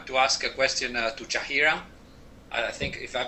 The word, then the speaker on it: Chahira: this socializing uh to ask a question to chahira I think if I pronounce right the word your your name um